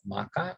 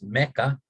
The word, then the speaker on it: Makkah: So will be Muhammad's personal revelation came while he was meditating in a cave outside the city of Makkah, or what we pronounce today as Mecca, when he was 40 years old.